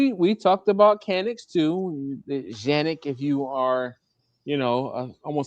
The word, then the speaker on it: Canik: of the firearm is CANIK, right? And in English, we pronounce CANIK as Canik, okay? Well, in Turkey, they pronounce the C like a J, right? So they pronounce it as Janik, right?